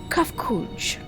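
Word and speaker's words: Cahciua: As for a nomenclature to address my individual person, I believe it would be pronounced Kafkuj.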